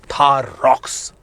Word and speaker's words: Thar Roxx: अब महिंद्रा लेके आ रहा है थार का 5 डोर वर्जन जिसे प्रोनाउंस करेगा थार रॉक्स।